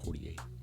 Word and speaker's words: Poitier: Poitier. Had a little French accent on there, Poitier.